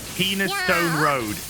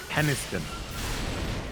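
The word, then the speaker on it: Penistone: I've seen them go penis Stone Road it's not penis Stone Road it's pronounced peniston pen no it's penis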